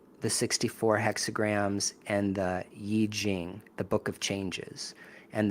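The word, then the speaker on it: I Ching: The 64 hexog system that comes from China, from Daoism, the Yiji Jing, people say IQing because it's spelled I C H I N G, but it's Yi Jing.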